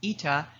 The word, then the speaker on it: eta: Demand elasticity, denoted by this funny looking N pronounced ETA, is a key metric for understanding consumer sensitivity to price changes.